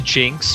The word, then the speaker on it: GNX: their bases with the Jinx from 00, because the name is GNX, and then in parentheses Jinx in Japanese. Oh, yeah, that's true. So either one is an acceptable pronunciation.